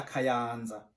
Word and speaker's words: Kayanza: Intara ntwaro ya Kayanza. On prononce Kayanza. Kayanza. Répète avec moi.